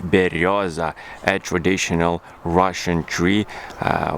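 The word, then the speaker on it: берёза: tree that is a bird tree which is pronounced in russian like berioza a traditional russian tree uh which is uh the country is situated with a lot of russian people like love exactly this tree berriosa we actually have even a special juice bird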